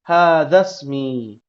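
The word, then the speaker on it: هذا اسمي: Hadza ismi atau kalau disambung hadzasmi. Cara bacanya gitu ya.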